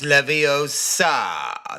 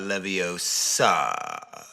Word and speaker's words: Leviosa: It's Leviosa, not Leviosa. But I contend that they